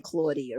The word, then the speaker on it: Claudia: Because when Adriana introduced me to you, it was Claudia. Yes. She said Claudia. Yes. Right, okay. So Not Claudia. She not said Claudia.